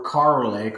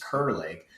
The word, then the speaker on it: Kerr Lake: our Lake breakdown series for car lake or what I actually had mispronounced as Kerr Lake and we are actually